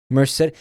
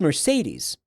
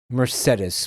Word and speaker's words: Mercedes: Merced. Is she saying Mercedes? I'm sorry. That is pronounced Mercedes. Mercedes.